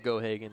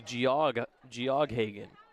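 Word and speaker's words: Geoghagan: Gohagen is the spelling of Gohagen is is really interesting. G E O G H A G- A. Sounds like it would be Gog Ghagen. But the G is silent.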